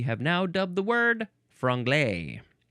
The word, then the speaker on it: franglais: now dubbed the word franglay sounds like a dessert franapain franapon does not